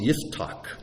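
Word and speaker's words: Yiftach: uh in Hebrew his name is pronounced Ytak which sounds kind of odd but uh we'll just stick with Jeff uh this morning.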